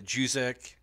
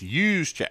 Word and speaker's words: Juszczyk: guess you go the Juzek. I never say his name right, but it's Juszczyk. Yeah, Use. Mm-hmm. I got to take that J off.